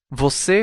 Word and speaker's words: você: Notice the strong part of the word, or stress, is on the last syllable.